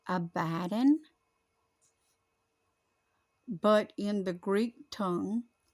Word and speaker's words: Abaddon: whose name is in the Hebrew tongue is Abaddon as some of you Youngs were calling but it's pronounced abaddin but in the Greek tongue hath his name